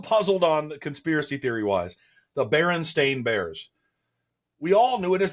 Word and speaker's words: Berenstain: The Berenstain Bears.